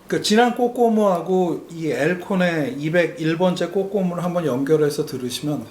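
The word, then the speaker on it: Al Cohn: 사실 알콘 알콘 그래 왔는데 정확한 발음은 뭐 엘콘이라고 하니까 오늘은 앨라고 한번 얘기를 해 보려고 하는데요. 2011번째에는 에어컨의 56년도. 어 그니까 지난 꽃꼬무하고이 엘콘의 2011번째 꽃꼬무를 한번 연결해서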